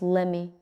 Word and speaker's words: let me: Let me becomes lemme.